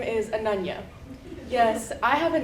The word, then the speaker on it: Ananya: Again, my name is Ananya. Yes, I have a name that is easy to mispronounce, and as you can imagine, I've been in many situations similar to the one at Pyro's.